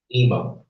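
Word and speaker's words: אמא: for mother in the Hebrew is the word ima. A lot of times people have are given the name Emma, that's how it's pronounced in Western cultural dialect, but the word Ema means mother. Okay, Ema.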